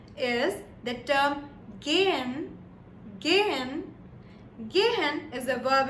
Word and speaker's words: gehen: And the word that I would like to share for G or G is the term gehen.